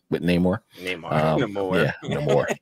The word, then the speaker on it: Namor: I think Namora is a great card, a great team up with Namor. With Namor. Namor. Yeah, Namor. Accents on the wrong syllable. Exactly. The wrong chicka over the R.